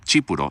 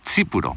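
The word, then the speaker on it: τίποτα: are like yeah but it's not chipo like ch it's tiputoo and I still struggle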